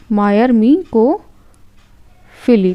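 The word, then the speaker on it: myrmecophily: होता है उसको यहां पर क्या बोलते हैं मायर मको फिली ठीक है मायर मिको फिली जिसकी स्पेलिंग है एम वाई आर एम ई सी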